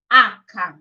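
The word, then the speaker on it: acca: Okay, aka.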